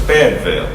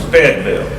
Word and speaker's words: Fayetteville: The original pronunciation of Fayetteville was Feydville, and Hayden still says that. That's how I said Fayetteville growing up. It was not Fayetteville, it was Feydville.